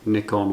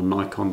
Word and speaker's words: Nikon: I don't dislike Canon, I don't dislike Nikon or Nikon, depending on where you're from and how you say it.